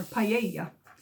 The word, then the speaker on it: paella: was a recipe for paella or paella if you're going to pronounce it right and um but i